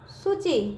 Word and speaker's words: सूची: सर पे कौन सा मात्रा लगा बच्चों, बड़ा होगा, लेकिन उसका उच्चारण बच्चों आधा यू का निकल के आया है।